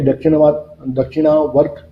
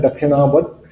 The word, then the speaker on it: दक्षिणावर्त शंख: है मंदिर में कि दक्षिणावर्त जो शंख है, इसमें जो वहाँ जो उसकी प्रोनाउंसिएशन है वो है दक्षिणावर्त शंख, पर उसको शास्त्रों में कहीं पर दक्षिणवर्ती शंख भी कहा गया है, जो लक्ष्मी का